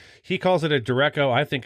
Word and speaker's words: derecho: He calls it a derecho. I think it's pronounced derecho.